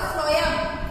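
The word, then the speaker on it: phloem: Food बनाती है, और फ्लोएम हालांकि स्पेलिंग पी से शुरू होती है फ्लोएम की, फिर भी एफ आ रहा है, तो फूड एफ, इसको कनेक्ट करके आप याद रख सकते हैं।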